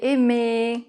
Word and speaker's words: aimer: Mais si elle est combinée avec un E, elle ne se prononce pas. Par exemple, dans l'infinitif des verbes du premier groupe, bien sûr. Parler, aimer. Voilà.